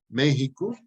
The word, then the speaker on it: México: Total, entonces la ciudad y el territorio y ahora el estado de Texas, de Texas, Texas, la misma palabra México, que es con X, que se pronuncia con J.